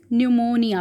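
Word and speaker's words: pneumonia: This is न्यूमोनिया, P silent होता है, न्यूमोनिया.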